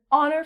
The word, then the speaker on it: honor: So, again, we're not saying the H. So, because it makes a vowel sound, we have to put the article an. And an honor. It is an honor for me to be here today.